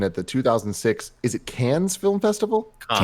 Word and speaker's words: Cannes: of a competition at the 2006 is it Cannes Film Festival right that's right yeah Cannes Film Festival and another audience what know it it's pronounced just tan like a camel festival yeah